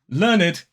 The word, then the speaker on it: learned: So as I said, learned is pronounced id as an adjective form, and it is really formal.